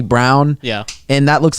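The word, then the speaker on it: Braun: we we talked about brawn is actually brown yeah and that looks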